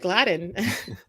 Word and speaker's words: Gladine: And yes, thank you for pronouncing my name right, Gladine.